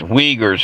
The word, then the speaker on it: Uyghurs: But it's pronounced Uyghurs.